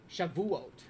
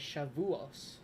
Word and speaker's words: Shavuot: Shavuot is how it's pronounced, apparently. Shavuot. Modern Hebrew / Sephardic is Shavuot. Traditional Ashkenazi as Shavuos.